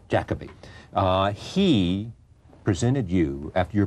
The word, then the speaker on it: Jacobi: There's a thing in which I say Jacobi, and Jacobi is what's the correct pronunciation? Jacobi.